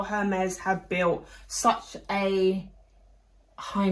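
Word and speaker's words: Hermès: I was about to say Hermes, but it is Hermes. Hermes with an E, a silent E that they just didn't want to put on there.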